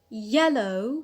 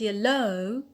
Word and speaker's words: yellow: as you can hear i said yellow not yellow i have not applied the same rule as i did for below though they they consist of the same thing the the last syllable has a diphthong why i put the stress on yeah on the penile and not on the alt because i have a